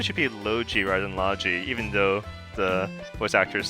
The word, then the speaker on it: Logy: and logi and yes even though if you look at the way it's spelled you would think oh isn't that spelled Asha and Loi but uh no they emphasize the hard sound so it's Esa and logi um they really should